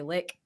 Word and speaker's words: Lich: You can find me everywhere at Sassy Lich, Lich like the undead thing. I heard people say lick. You can also say it like that if you want.